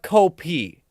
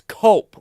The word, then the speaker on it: Cope: Apparently, No, it's not Copy or Copay. It's Cope, like a normal person.